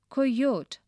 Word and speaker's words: coyote: it up in class pronounce coyote like koi rhymes with boy oat rhymes with boat with i at the end sound as in c page four the kite 1.